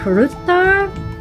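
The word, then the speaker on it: Hrútar: This is uh I think it's pronounced Rutar uh aka Rams.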